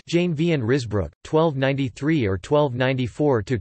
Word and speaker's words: Jan van Ruusbroec: The Blessed John van Ruysbroeck, Dutch, Jan van Ruysbroeck, pronounced Jane van Ruysbroeck, 1293 or 1294 to 2 December 1381, was one of the Flemish mystics.